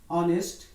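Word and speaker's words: honest: लेकिन जब इसको हम लिखते हैं, जब इसको हम उच्चारण करते हैं और हिंदी में इसको लिखते हैं ऑनेस्ट, तो ये देखिए कि आ साउंड का आवाज आता है।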